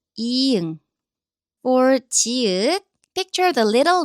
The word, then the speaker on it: 이응: So at the beginning of a syllable, it has a zero sound. It's completely silent. But at the bottom, it makes 응 sound in English. Think of the last sound in a ring. So 이응.